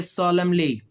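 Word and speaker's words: solemnly: नीचे सॉलमली, इसमें भी एन नहीं बोल रहा, सॉलमली, यानी कि मतलब क्या इसका?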